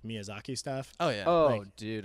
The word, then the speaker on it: Miyazaki: Adam is I used to intentionally mispronounce his name Mizyaki like for years and years he thought I just couldn't do I always think I always say Miyazaki. I always feel like I'm pronouncing it wrong. No, but that's what it's supposed to be right.